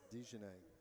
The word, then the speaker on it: Dejanay: Sorry, Dejanay. Dejanay. Forgot that he is pronounced that way.